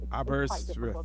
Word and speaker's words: Aberystwyth: Aberystwyth, yeah. That'll be my goal for this year, to learn how to pronounce that.